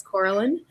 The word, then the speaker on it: Coraline: It's Coraline, in case you're wondering how to pronounce that. So often at conferences, people will call me Coraline. Totally acceptable.